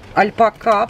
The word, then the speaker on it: альпака: красивая альпака у которой альпака правильно ударение ставится на последний слог и я нашла пряжу